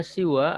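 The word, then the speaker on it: سوى: Yang masyhur, yang populer dalam pengucapannya ya pihak pada siwa itu yaitu mengkasrohkan sin ya, si, dan memendekkannya. Jadi siwa, si ya, pendek.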